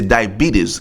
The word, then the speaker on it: diabetes: anglais on dit d i on dit c'est diabetes qui est d i a b e t